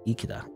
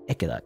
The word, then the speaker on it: Ikeda: Ikeda. Ikeda? E is E, you know, because when you pronounce Japanese, certain words in Japanese, it's always pronounced a very specific way. There's no ambiguity in Japanese pronunciation. Ikeda.